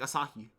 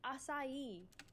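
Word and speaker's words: açaí: you pronounce it like asaki it's not asahi it's acai okay acaciable acacia i'm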